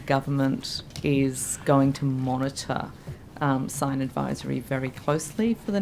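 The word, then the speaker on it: Scyne: the new PwC spin-off, I think it's Sign, definitely Sign.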